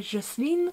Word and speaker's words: Jocelyn: femmes, sauf que Jocelyn, mais écrit Y-N du coup, se prononce en anglais Jocelyn, et donc ils ont cru que c'était une femme, enfin bon bref, je vous laisse passer le truc.